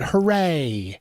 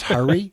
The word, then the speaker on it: Hurry: But there is a 3rd mode called, well, I call it Hooray. I think it's pronounced hurry. Oh, it's hurry.